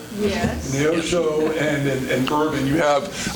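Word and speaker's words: Neosho: here that I'm going to have probably trouble pronouncing is what is that how do you say it? Neoso. Yes. Neoso and and Bourbon.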